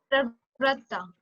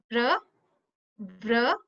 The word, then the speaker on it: Pravratta: Pravrata. Pravrata. Okay. So first is P, means pra, and the next is V. V for van, va. So it's vra, tah.